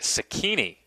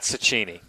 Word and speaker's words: Cecchini: It was Nick Cecchini, not Cecchini.